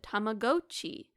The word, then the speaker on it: Tamagotchi: at a Nintendo Direct, the announcer said Tamagotchi, which is actually the correct pronunciation, but a lot of responses being like, "What the freak is a Tamagoi? this guy talking about? Look, I understand what the Japanese underpinnings there must be. It's, in case you're wondering, it's tamago, which is egg, hence the egg thing with watch.